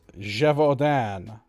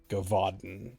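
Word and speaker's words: Gévaudan: and a ferocious javodan i have it on good authority that it's pronounced something like that apparently it's a french thing your sudden i mean i'm sure i pronounced it wrong but i pronounced it closer to write than if i just said like gavaden which is how i used to pronounce it before yep that's what my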